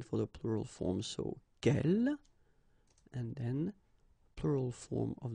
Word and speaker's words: quel: So the first thing, the good news is that if you listen carefully, quel, quel, quel, quel, okay, so phonetically you get only one form.